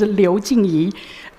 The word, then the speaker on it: Liu Jingyi: The pronunciation of my Chinese name is Liu Jingyi.